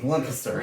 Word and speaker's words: Lancaster: Lancaster.